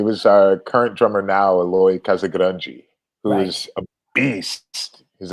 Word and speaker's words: Eloy Casagrande: How do you pronounce his name? Eloy? Eloy Casagrande.